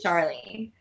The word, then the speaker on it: Charleigh: Her name, we spell it CHARLEIGH. Nice. Charlie.